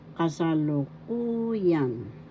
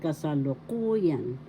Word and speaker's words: kasalukuyan: fast nakaraan That means kasalukuyan that means present first syllable ka second syllable sa third syllable lu fourth syllable ku fifth syllable yan the fourth syllable has the action so you pronounce it kasalukuyan kasalukuyan that is present